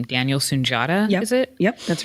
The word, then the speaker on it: Sunjata: lead actors on it including I can never pronounce his last name Daniel sunjata is it yep that's right so I'm willing